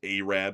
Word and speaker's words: Arab: It's kind of like how in Alabama there's a town called Arab, but it's actually pronounced Arab, Alabama.